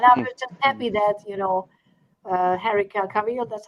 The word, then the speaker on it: Cavill: And I was just happy that Henry Cavill, that's how you say his name.